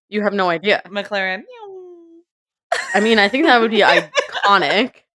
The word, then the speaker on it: Neom: team is called, like, Neom, Mhm. Neom, and Ew. Hannah and I from Track Talk were like, "How do you say that?" And I was like, "It's like neom, like cars."